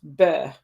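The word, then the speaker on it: Beith: Interesting that I was scrolling down and I noticed the name for this month is Beth, pronounced Beh.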